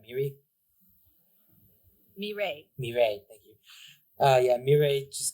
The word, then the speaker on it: Mireille: Yeah, Robert passes by Miri with a smile as I'm saying it right, Miri. Mirei. Mireille, thank you.